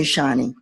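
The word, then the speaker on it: Shoni: And I met Shani, and she spells her name S-H-O-N-I. And I think she takes almost any pronunciation of it, but I say Shani.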